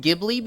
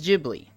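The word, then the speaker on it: Ghibli: you think it's pronounced gibl because it starts with a g nope the correct pronunciation is jibli I hate it but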